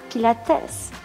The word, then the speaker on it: Pilates: Monsieur Pilate disait, si on veut dire la prononciation en allemand, Pilatesse.